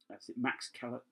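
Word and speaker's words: Max Cavalera: I'm not averse to listening to a bit of Max Calavera, that's how you pronounce it.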